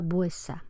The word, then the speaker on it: vuesa: abreviatura, etcétera, y que todo el mundo pronuncia vuesa. Es decir, ese grupo vuestra, STR, ya la lengua oral de principio del XVI lo ha simplificado en vuesa.